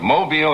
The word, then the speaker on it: Mobile: I was down in Mobile, I have to say it right, Mobile, Alabama, for the Junior Miss Pageant last evening.